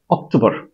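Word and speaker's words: October: চাপ হবে September September হবে না সেপ্টেম্বর তো অক্টোবর অক্টোবর বলি আমরা অক্টোবর ট উচ্চারণ করি এখানে আমরা ট উচ্চারণ করতে পারবো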